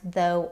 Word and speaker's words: though: f like in the word laugh or it can be silent like in the words though or right.